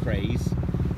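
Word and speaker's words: Caerhays: Alex set off from Craze this morning, or Carhays as it's written on the map, locals say Craze.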